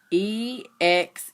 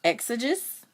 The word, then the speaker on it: exegesis: it means and I don't know how to pronounce it. Exegesis. Exegesis.